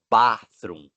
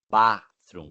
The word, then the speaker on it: bathroom: Fala bathroom, bathroom, com som de A mesmo, né? Aberta a boca assim, para não confundir com o banheiro.